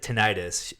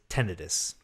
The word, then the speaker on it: tinnitus: i i have to knit tonight uh it's pronounced uh she corrected me it was i said tinnitus she says tinnitus interesting yeah i definitely don't say that she